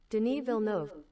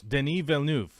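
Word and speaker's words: Denis Villeneuve: we ready for it was I even close let's see denov nope I was not even close Deni Vu right den den den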